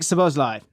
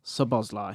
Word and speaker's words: Szoboszlai: You've gone for Dominic Szoboszlai. Everyone who knows me knows I love Szoboszlai. Yeah. Or Szoboszlai.